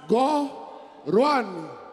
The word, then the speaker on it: Ghorwane: Podem pronunciar Ghorwane. Go! Go! Go!